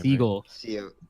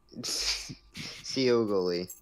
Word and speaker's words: Seogly: Yeah, I don't say his name Seagull. Seogly.